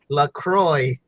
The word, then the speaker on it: LaCroix: sponsor for Lauderdale's own Lacroix its flavored club soda basically it has an X at the end but you don't pronounce that and